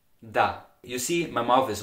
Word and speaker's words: der: In the Austrian dialect, the article for the masculine nouns, der, is widely pronounced da.